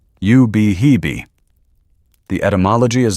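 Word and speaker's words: Ubehebe: It is pronounced you behee.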